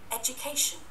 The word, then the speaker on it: education: Đó, education, nhấn chữ k và chữ chu này là dở du, không phải đỡ đu nha, cho nên là cẩn thận.